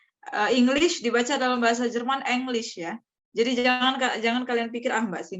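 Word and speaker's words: Englisch: Enggak, English itu dibaca English dalam bahasa Jerman karena huruf letter E itu tetap dibaca E, not I. Ya, bukan I.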